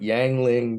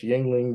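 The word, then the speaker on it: Yuengling: America right oh lordville called it yangling beer when it's Yingling beer uh it's it hearkens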